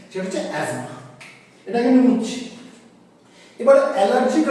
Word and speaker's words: asthma: অ্যাজমা এটাকে আমি মুছলাম অনেকে উচ্চারণ করে অ্যাস্থমা অনেক ডাক্তারবাবুরাও করে উচ্চারণটা কিন্তু ভুল উচ্চারণটা হবে অ্যাজমা যদিও বানানটা হচ্ছে ASTHMA কিন্তু আমরা এটাকে অ্যাস্থমা বলবো না আমরা কি বলবো অ্যাজমা বলবো ঠিক আছে এর অ্যাকচুয়াল প্রনাউন্সিয়েশন অ্যাজমা। আচ্ছা, তাহলে ডোজ কি হবে?